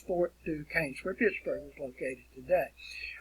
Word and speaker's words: Fort Duquesne: it is spelled fort duquesne or it is pronounced fort duquesne it looks like it would be pronounced new question or something but it's fort to cain's where pittsburgh is located today all right and